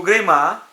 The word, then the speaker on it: Greimas: Ela vai nascer do Greimas, ou do Greimas, dependendo da forma como você gosta de pronunciar, da semiótica francesa a partir da década de 60, a escola parisiense.